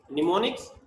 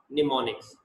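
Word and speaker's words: mnemonics: निमोनिक्स, एम जो है यहाँ पे वो साइलेंट है, तो ये प्रोनाउंस होगा निमोनिक्स।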